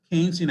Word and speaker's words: Keynesian: economics what we call keynesian economics and it's pronounced like sugarcane keynesian economics how the economy